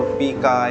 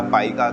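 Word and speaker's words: pica: ये फिर एक बीमारी होती है जिसको हम पीका या पाइका कहते हैं, जो भी आप प्रोनाउंसिएट करते हो, पीका या पाइका।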